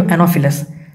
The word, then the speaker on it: Anopheles: Next, coming to Anopheles. PH gives a pronunciation of F.